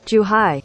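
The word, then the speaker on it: Zhuhai: they're in the process of shutting down their jew hi hey you want to suck on this and yes z-h-u-h-a-i is pronounced too high because google told me i checked now before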